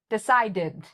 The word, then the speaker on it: decided: Decided. Decided. This has theid sound. Decided.